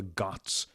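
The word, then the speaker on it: ghat: before sunrise ramananda would go down to the guts um you can look this up it's spelled g-h-a-t and you'll find you've probably seen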